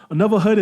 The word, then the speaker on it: Anuvahood: Another Hood is essentially it's spelled ANUVAHOOD. Another Hood.